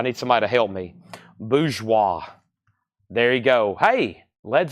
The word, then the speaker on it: bourgeois: Bourgeois.